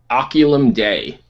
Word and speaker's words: Oculum Dei: How do I pronounce the band name? Oculum Dei. Oculum Dei.